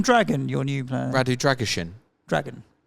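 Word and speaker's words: Drăgușin: Radu Dragishin. Dragon. You pronounce it like it's Shin.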